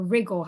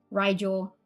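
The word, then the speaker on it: Rigel: start out with with RI uh rle or rigle however you want to say the star name Riel I hear it pronounced so many different ways but I de had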